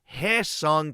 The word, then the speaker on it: Hye-seong: difference in their name being pronounced h song Kim and haong Kim which Kim would you prefer